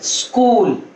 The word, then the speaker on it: स्कूल: उनको लिखने में स्कूल, उसको बोलने में ई नहीं सुनाई पड़ना चाहिए, वो ई एकदम साइलेंट की तरह आपके मुंह से निकलना चाहिए, स्कूल।